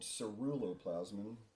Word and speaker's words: ceruloplasmin: copper metabolism because there's this copper enzyme called ceruloplasmin I will spell it CER ulo p-l-a-s m-i-n cerulloplasma it's a